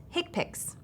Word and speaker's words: HCPCS: common procedure coding system HC PCS commonly pronounced hick picks this code set is based upon CPT in fact the first level of hick picks is identical to CPT